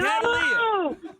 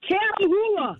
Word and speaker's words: Catahoula: Cattle Leo. No. Leah. No. Catalea. No, Catahoula.